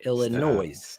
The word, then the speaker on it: Illinois: if it was British Illinois there's an S an s what is it put the shovel down bro come on when's the S silent if we're gonna be honest in Illinois it's silent that's when based on